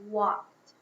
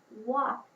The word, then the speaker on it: walked: I'd like you to say quietly the word walked. Which ending sound do you hear? T, id, or d? Walked. Walked would go in the t category.